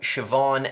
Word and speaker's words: Siobhan: That would be Neve, Siobhan, and Kiva.